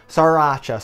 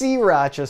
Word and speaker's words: Sriracha: taking over the world saracha sauce actually pronounced siracha sauce if you talk to the inventor or anyone else in Vietnam but over in America we just change the name of that's what we